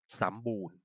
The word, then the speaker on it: สัมบูรณ์: ความ ดัน นะ ครับ สัมบูรณ์ อ้าม อ่าน ว่า สมบูรณ์ มัน คือ สัมบูรณ์ นะ